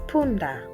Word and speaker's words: punda: The next letter is pronounced as pa, pa, and the word is punda, punda, which means donkey in English.